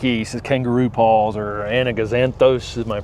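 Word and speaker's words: Anigozanthos: Is kangaroo paws or anaganthos. Am I pronouncing that right?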